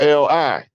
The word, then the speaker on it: Li: The contract traced back to a general in China named General Li, spelled L-I, but it's pronounced Li.